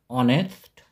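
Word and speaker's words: honest: তাহলে সেক্ষেত্রে আমরা এখানে যেহেতু এইচ এর উচ্চারণটি নীরব থাকে সেজন্য এখানে আমরা বসাবো এন এন অনেস্ট এমপ্লয়ী একটি মে ভেড়া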